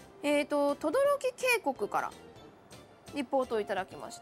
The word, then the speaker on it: 轟: てみましょうねこれで轟きって読むのが面白いですよねね変わってます